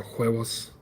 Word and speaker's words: huevos: You see, in Espanol, H and a U makes the sound, or huevos.